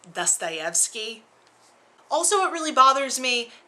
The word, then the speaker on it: Dostoevsky: so it's very important to me that it's pronounced correctly. Also, it's Dostoevsky.